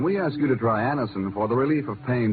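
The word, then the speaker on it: Anacin: called X when we ask you to try Anison for the relief of pain due to a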